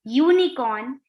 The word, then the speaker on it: unicorn: we don't use uh some words like university union european unicorn useful begin with a consonant sound that of you why you so we